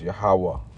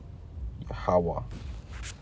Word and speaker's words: Yahweh: You see, but we know, all right, the true pronunciation of the Heavenly Father's name, and it is Yahweh. Yahweh.